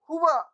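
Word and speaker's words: هو: हुआ, होवा नहीं करना है, हुआ। और जो जबर होता है उसको जल्दी से अदा करते हैं, ठीक है ना। हुआ, हुआ, हुमा, हुम, हुआ, हुमा, हुम, हुआ, हुमा, हुम, हुआ, हुमा, हुम।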